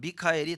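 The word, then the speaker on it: מיכאל: 영어에 마이클이라는 그 말이 미카엘 천사장이에요. 근데 영어식으로 발음을 맞아 보니까 그냥 마이클 이렇게 되는데 원래는 미카엘이에요.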